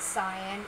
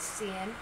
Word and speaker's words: cyan: this uh CN wo path and some people pronounce it cyan it is pronounced Cen trust me but anyway um that's the explosion